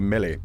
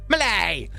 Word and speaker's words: Millie: i'm pissed off because normally i do pronounce millie milly but for some reason when i'm pissed off i get extra british and it turns from millie into malay oh i can't wait